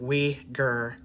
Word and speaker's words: Uighur: allegations of its uyghur p that's how you pronounce it we gir people being mass shipped to communist re-education camps